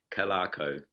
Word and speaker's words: Calarco: It's a tricky one, I know, Hank. It's Calarco.